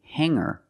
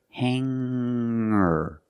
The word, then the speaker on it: hanger: words with e r i don't pronounce the G sound it's just the nasal M linked together with the r together hanger hanger there's no G sound I cannot say hanger